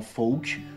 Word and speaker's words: folk: Et notez aussi que lorsque l'on applique cette règle, le L ne se prononce pas lorsque suivi du son K, comme par exemple dans folk ou encore yoke, ou